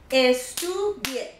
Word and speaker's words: estudie: Estudie. 3 syllables. Second to the last. This is the last one. This is the last one. Second to the last is right here. So my accent is on the U.